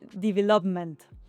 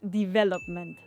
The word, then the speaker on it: development: Mucha gente dice development, porque nosotros, yo creo que el español estamos acostumbrados a decir desarrollo, development, pero en realidad es development.